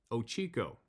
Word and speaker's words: Ochoco: I was bow hunting in the Ochoco Mountains, pronounced Ochico.